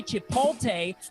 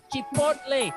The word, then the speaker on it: Chipotle: And please don't say Chipotle because it's Chipotle. It rhymes like the corn with mayonnaise special.